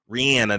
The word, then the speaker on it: Rihanna: you need to do Rihanna that's actually how you pronounce it actually Rob come to